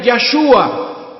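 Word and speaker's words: ישוע: llamar a su nombre jesús en hebreo se pronuncia ya su a ya suba que traducido al español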